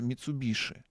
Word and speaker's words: Mitsubishi: кончины фирмы Mitsubisi кстати японцы произносят её Mitsubish и они вот пришептывать на этом слове Ну у нас как-то